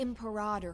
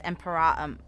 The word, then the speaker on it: Imperator: The Imperator has arrived before her faithful council, and the Alliance meeting is about to begin. Every time I hear it pronounced as Imperatum, it feels like my ears almost twitch.